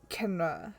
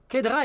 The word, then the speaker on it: Kedra: I think it was Kenra. I think the D is silent. What's Kenra? Kedra is a candidate member of APIs.